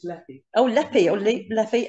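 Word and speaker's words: Lepe: And the trip out on Monday, the 13th of November, is to Leap, if that's how you pronounce it, L-E-P-E. Is it? Well, Bob says it's Leppy.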